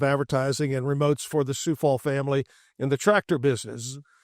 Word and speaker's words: Coufal: a bit of advertising and remotes for the Coufal family in the tractor business. And so we learned pretty quick. This is how you say it. So that's good. Kind of got me ready for that. Dustin Coufal from over at the Extraco Event Center, our